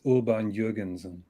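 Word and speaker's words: Audemars Piguet: the way it's it's called the the proper pronunciation is Uber and Jurgensen is that the same model you've got Clive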